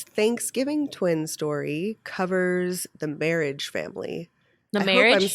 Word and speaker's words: Mehrige: twin story covers the marriage family marriage saying that right it's em er H IgE marriage marriage a quietly marry II